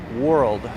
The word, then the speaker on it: world: pronounce yeah it is world most people don't realize it's actually two syllables not one if it's pronounced as